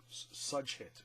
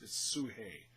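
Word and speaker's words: Sugehit: up against princess sue if I didn't hear it on the show I would have mispronounced it so I'm glad I watched it closely sue hey it looks like such hit but it's sue hey this one surprised me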